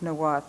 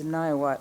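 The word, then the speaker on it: Niwot: It was the winter camp of Chief Noath and his band of southern Arapjo. Most people in Boulder mispronounced Noath as Nawat, or used the English translation left hand.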